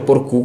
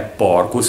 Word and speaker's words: Porcu: solo che qua c'è scritto porcù con l'accento sulla u Ma come mi raccontavi è un errore è un errore Sì è un errore che mi porto dietro da da bambino nel senso perché comunque il mio cognome è porcus senza accento ma per tutti per